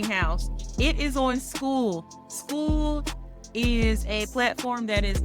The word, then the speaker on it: Skool: School is a platform that is either online or you can get the School app. School is spelled SKOOL.